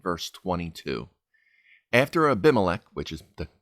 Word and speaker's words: Abimelech: After Abimelech, which is the correct pronunciation that I kept ruining last time, after